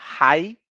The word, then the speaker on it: high: terminam com de eight nas duas a gente só pronuncia a última letra Então fica hi isso acontece também